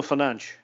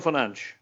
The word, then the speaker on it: Fernandes: And again, in Portugal, it's Bruno Fernandes. Bruno Fernandes.